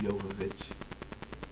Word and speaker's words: Jovovich: as M yovich joic well they pronounce it yovich I call it Jovovich that's just how I roll all love seriousness uh